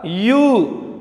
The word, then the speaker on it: ewe: Pronunciation क्या है हमारा? यू।